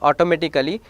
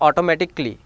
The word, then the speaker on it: automatically: Now letter A, when it is come before double ly, automatically, it is not automatically, it is automatically, logically, practically, like that A is silent over here.